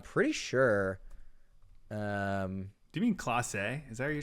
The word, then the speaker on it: Clase: I used to say Clase, and then somebody messaged me and they said, "Hey, it's Clace, and it looks bad to say it wrong."